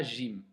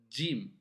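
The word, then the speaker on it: ج: Jim, et on ne dit pas Jim. Les Arabes prononcent Jim. Si on va l'écrire en phonétique, on va écrire un D et un Jim. Edge, edge. D'accord?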